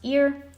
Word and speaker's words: Ear: So it's pronounced ear.